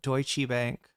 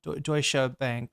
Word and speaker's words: Deutsche: I've never heard anyone call it Deutschi Bank. That's amazing. Yeah, Deutscha Bank is uh how it's pronounced.